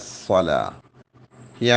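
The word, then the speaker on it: الصلاة: സ്വലാ ഹയ്യാ അല സ്വലാ എന്ന് പറയുമ്പോൾ സ്വലാഹ് ആ ഹാ പ്രത്യേകമായിട്ട് ഉച്ചാരണത്തിൽ വരണം കാരണം ഹാ ഉച്ചരിക്കാതെ ഹയ്യാ അല സ്വലാ എന്ന് മാത്രമാണെങ്കിൽ അർത്ഥം തന്നെ മാറിപ്പോയി അപ്പൊ നിങ്ങൾ നരകത്തിലേക്ക് വരൂ എന്ന അർത്ഥമാണ് ആ ഹാത്ത അവിടെ ഉച്ചരിക്കുന്നില്ല അല്ലെങ്കിൽ വരിക ഏ സ്വലാ എന്ന് നരകത്തിന്റെ പേരുണ്ട് അപ്പൊ നരകത്തിലേക്ക് വരൂ എന്ന്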